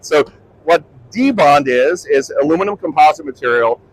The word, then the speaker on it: Dibond: And I've been reprimanded to make sure I properly pronounce it. So we are going to call it debond for the rest of the presentation. All right. So what debond is is aluminum composite material.